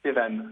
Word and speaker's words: Sévan: J'ai deux auditeurs qui patientent depuis un petit moment, Maude et Sevan ou Sévan, je sais pas comment je dois dire.